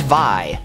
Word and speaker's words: Vi: This is Vi, pronounced Vi, like Die.